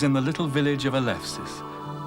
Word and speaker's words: Eleusis: In November 1801, Clarke was in the little village of Eleusis, or in the old pronunciation Eleusis, near Athens.